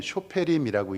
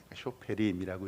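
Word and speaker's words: שופטים: 잠깐 화면 보여 주시겠습니까?이 이 사사는 쇼페림이라고 읽는데 이스라엘 언어는 왼쪽에서 오른쪽으로 읽는게 아니라 오른쪽에서 왼쪽으로 읽어요. 쇼페림이라고 읽습니다.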